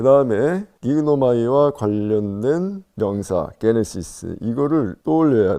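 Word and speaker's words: γίγνομαι: 긴데 왜 그러냐면 여러분들이 기그노마이 이걸 빨리 발음하다 보면은 이 감마가 이렇게 발음이 안 되는 것을 느낄 수 있을 것입니다. 그래서 이것이 발음이 안 되는 대신에 이 아이오타가 길어져서 기노마이 이렇게 된 거죠.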